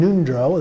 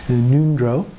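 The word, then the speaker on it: ngöndro: the preliminary practices in nundro that's in g-o-n-d-r-o uh so the g is silent neutral and the o sounds like a u nundro uh those are the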